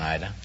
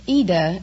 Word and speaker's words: Ida: Well, it's Ida in Italian, but... Oh, like Aida? Well, no, there is no A. It's just Ida. I-D-A. Oh. But the American pronounce it Ida.